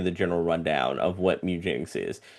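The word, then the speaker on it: Mewgenics: say it properly and it was mugenics as in meow and you're breeding cats, which show me everything and tell me the formats.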